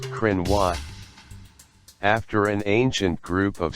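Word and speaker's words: Cruithne: the periodic planetoid is named crook nee pronounced Krynn watt after an ancient group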